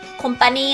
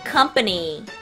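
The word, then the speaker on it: company: 이건 테이자 녕 회사 회사는 영어로 콤파니 아니고 컴퍼니 컴퍼니 슈기 최고야님 잘하셨고요 그다음에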